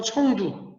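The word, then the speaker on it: 成都: 스촨성이고, 이 스촨성의 수도가 우리 발음으로는 성도, 중국 발음은 청두.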